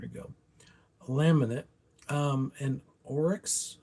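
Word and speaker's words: Oryx: Um and Orics I think is how you say it. It's O R YX.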